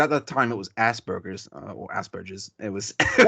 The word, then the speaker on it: Asperger: Asperger's, It's a German name, Asperger. As, Asperger, Asperger's. Yeah, and I can't It's pronounce it. Asperger syndrome. It's got an apostrophe. The S is an apostrophe. It's All right. Asperger syndrome.